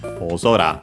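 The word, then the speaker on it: 大空: We check its accent oora. Okay. So the accent is on the zo.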